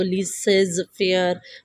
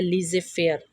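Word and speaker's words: laissez-faire: फेर की ठीक है कुछ लोग इसको लीज फेर मतलब इस तरह से रीड आउट करते हैं लेकिन इसका असल प्रनंसीएशन है लीजिए फेर ठीक है तो कहते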